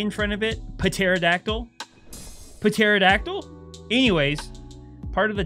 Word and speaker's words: Pterodactyl: Pterodactyl spelled with a P. Oh, I'm so dumb! Let's just put a silent P in front of something, because that makes a lot of sense.